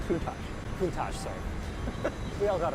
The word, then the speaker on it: Countach: I needed to be coached on how to pronounce Lamborghini. It's Countach? Countach.